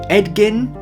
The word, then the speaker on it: Edgin: Edgin... that pronunciation is the only thing saving this from